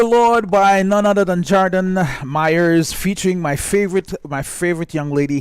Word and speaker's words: Chardon Myers: I'm hoping I'm pronouncing his name right. Chardon Myers.